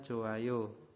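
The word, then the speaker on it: 좋아요: jika ada hiet nah yet ini tidak dibaca jadi membacanya cuman johayo joayo ya dibacanya joayo nah nomor nomor dua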